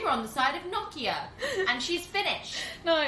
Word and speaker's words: Nokia: and will never die how do you pronounce it shannon nokia thank you and it's a finnish brand and we asked a finished person vera if you're listening